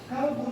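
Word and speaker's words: كلب: Ingat, di dalam bahasa Arab, kalbu dan kolbu itu berbeda. Ketika kita menyebut kalbu, itu artinya anjing. Ketika kita menyebutnya kolbu, itu artinya hati.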